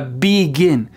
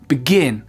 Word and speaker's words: begin: Quand je dis par exemple begin, on n'entend presque pas le B. Okay? C'est vraiment pas 2 syllabes qui sont égales, c'est pas begin, c'est begin, begin.